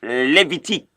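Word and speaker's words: Lévitique: The next book there is Levitique.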